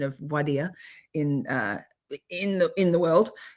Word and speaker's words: voir dire: it properly, because there's a whole lot of mispronunciation of voir dire in the world. It's voir dire.